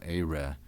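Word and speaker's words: aëre: Now you may hear me pronouncing aere like this. It's often written with a diaeresis above the e to show that this is not a diphthong.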